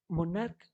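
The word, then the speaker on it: monarch: तो stomach, stomachs, मोनार्च, मोनार्क, मोनार्क्स।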